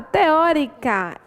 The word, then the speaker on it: teórica: Teórica, o bom é que a palavra já é acentuada, já é mais fácil identificar a sílaba tônica. Última, penúltima e antepenúltima. Teórica. Última sílaba mais forte, oxítona. Penúltima sílaba mais forte, paroxítona. Antepenúltima sílaba mais forte, proparoxítona.